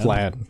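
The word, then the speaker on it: Phlan: Flan. Yep. Ph is f sound. Flan as in the dessert.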